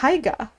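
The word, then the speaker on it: Haigha: His name is Higa. He pronounced it so as to rhyme with mayor.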